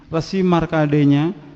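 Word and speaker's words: Markandeya: Bali, bahwa Resi Markadenya, ini bukan rumah sakit Islam ayah bunda ya, jadi bahasanya kita pakai ejakan Sanskrit asli, jadi bacanya Resi Markadenya, dengan beberapa sapi juga kerbau yang berwarna putih.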